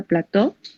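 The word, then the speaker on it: plateau: Este tipo de iris o iris plateu, se pronuncia plateu, va a caracterizarse porque la cámara anterior central va a ser normal, va a ser amplia, como describe Hasibe, ¿sí?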